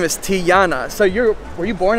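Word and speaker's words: Tijana: so it's actually pronounced tiana not tijuana she actually told me that the j makes a y sound yeah right the yi yeah so her name is tiana so you're were you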